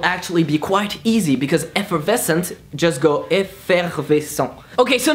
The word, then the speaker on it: effervescent: So just pronounce it the same way you usually pronounced it, but with a French accent.